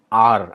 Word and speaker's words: A'hr: role the film is also called r i think that's how it's pronounced a apostrophe hr which refers to a language